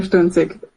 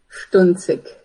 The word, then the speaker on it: Sdunzik: Can you pronounce your name so we can say it correctly, please? Ma'am. Jennifer Stunik, one more time, please. Jennifer Stunick. Stunzic.